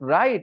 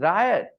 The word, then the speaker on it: riot: I wouldn't know that it should not be pronounced right it should be pronounced Riot how would I know